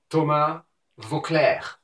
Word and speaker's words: Voeckler: Thomas Voeckler.